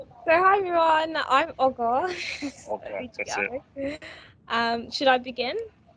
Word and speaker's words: Olga: as i should be i'm going to say okra it is your type no i didn't say